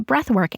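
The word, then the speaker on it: Breathwrk: that is using a breathwork app. So the app I use is called Breathwork, but work is spelled W-R-K, so no O.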